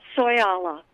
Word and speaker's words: Soyala: daughter of the desert is that how you pronounce her soy Allah yes and but she was a wonderful person